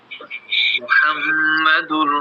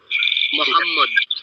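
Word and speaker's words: محمد: মানে হচ্ছে প্রশংসনীয় প্রশংসিত মোহাম্মদ হ্যাঁ মোহাম্মদ এই যে হাটা বলার মাঝখান থেকে আমরা আজকে বললাম এই হা দিয়ে হচ্ছে মোহাম্মদ প্রশংসিত তার মানে আমরা যদি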